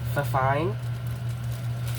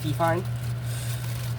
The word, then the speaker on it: Fifine: Um the microphone is uh fine or fifine. It's fifine.